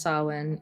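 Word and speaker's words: Samhain: Sam Hane saw okay way off approximately pronounced sen is Gaelic festival traditionally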